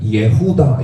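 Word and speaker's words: יְהוּדָה: 우리는 유다라고 했지 원래 예후다 이렇게 읽어야 됩니다. 원래 예후다. 근데 예후다라고 안 읽죠. 만약에 지금 번역한다면 저 같으면 예후다 이렇게 해야 맞습니다.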